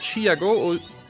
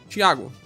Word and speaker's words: Thiago: So it's Thiago or Thiago?